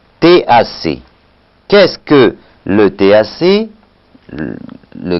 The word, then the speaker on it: TAC: La dureté carbonatée, ou si vous préférez, le titre alcalimétrique complet qu'on prononce TAC.